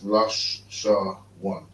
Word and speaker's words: Lashawan: So that's Lashawan. Notice how these characters have this symbol, but this symbol means that it's pronounced singular. So it's La Sha One, and the Wa and the Na are together. One.